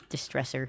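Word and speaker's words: DSTRESSR: Um, their band name is spelled really weird. It's D S T R E SSR Distresser.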